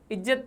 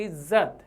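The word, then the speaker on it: इज़्ज़त: जैसे इज्जत, जैसे शब्द लिखा है मैंने इज्जत, तो यहाँ पर ये जो बिंदी लगी नीचे, इसे हम क्या कहते हैं उर्दू फारसी में, नुक्ता, कि इसका उच्चारण आप रगड़ेंगे, इज्जत नहीं होता, इज्जत। तो नुक्ता लगने के कारण ज को रगड़ उत्पन्न होती है, इस कारण से इसे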